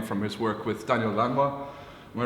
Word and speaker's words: Lanois: his work with Daniel Lanois. Am I right in pronunciation? Yeah. Yeah? Lanois. Someone said Lanois to me recently. Yeah, it's either Lanois or some people say Lanois.